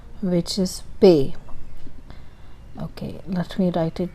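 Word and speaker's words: پے: As you can see, there are 3 dots under Pe, and the name is Pe, like I got some pay. I got this month's pay, like that. Pay.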